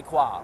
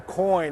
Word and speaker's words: Coin: Women's #1 seed Anna Ivanovic goes down to qualifier Julie Kwa. What happened today? Well, I guess Julie Kwa, or Julie Coyne, as her name is spelled in Anglo, is coin of the realm these days at the U.S.